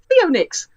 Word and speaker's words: Pheonix: and they are both spelled PHEONIX11, because when I originally wrote my email way back when, I switched the E and the O around, and I like it that way because it's Theonix. That's how you say it.